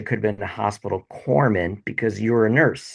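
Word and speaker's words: corpsman: A funny story is it the way corman is spelled out it's corpse men but you know the p is silent.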